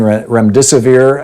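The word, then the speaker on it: remdesivir: you know you're hearing REM disappear I believe is how it's pronounced might shorten the course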